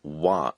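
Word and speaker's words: は: remains ha h a it's the same as in the wa in konnichiwa hello we pronounce it but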